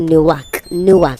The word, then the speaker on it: Newark: It is not Newark. That one is New York. This one is Newark. If you say it like that, it sounds like New York. You say Newark.